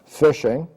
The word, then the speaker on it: phishing: Some of the names for social engineering attacks are phishing, pronounced phishing, pretexting, quid pro quo, which is the idea of you do something for me, I will do something for you.